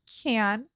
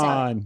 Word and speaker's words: Cannes: were Cannes, right? Am I saying it right? However you say it. Con. Con.